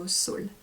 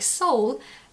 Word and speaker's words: Saule: And yeah, so Saule. And also it's easy for me, because if you want to pronounce it like soul, you can.